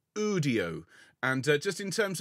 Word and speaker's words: Udio: u n o and audio is UD IO think audio without the a or Studio without the St whichever you prefer now